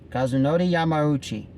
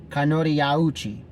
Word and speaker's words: Kazunori Yamauchi: the owner kazunori Yamauchi okay that's how you pronounce his name kazunori yamaruchi not kanoriyauchi and I'm gonna tell